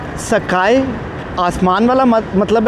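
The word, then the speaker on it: 栄: नाम सुना था सकाए, इसको मैंने इंग्लिश में प्रोनाउंस किया था। मैंने समझा था कि शायद ये इंग्लिश वर्ड स्काई लाइक आसमान की तरह है और इसको ये प्रोनाउंस डिफरेंट कर रहे हैं, सकाए, और लिख डिफरेंट रहे हैं।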